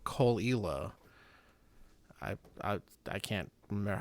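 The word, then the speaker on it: Caol: is this one called Cole. I I I can't remember how to spell it, but um I think the first word is C A O L. It's probably not spelled anything like it's pronounced.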